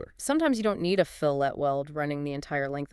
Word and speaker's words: fillet: Phillet welds. Pronounced fillet.